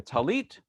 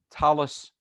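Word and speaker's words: טלית: pronunciation is shabbos um the prayer shawl can be a talit sephardic talis ashkenazi and it's just a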